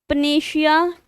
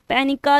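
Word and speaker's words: panacea: पनेशिया, पैनिका, इसको दो word से प्रोनाउंसिएशन करते हैं, पैनिका और पनेशिया।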